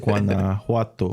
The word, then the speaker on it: Guanajuato: Guanajuato.